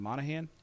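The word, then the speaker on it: Monaghan: Is it Monahan? Yeah. The G is silent.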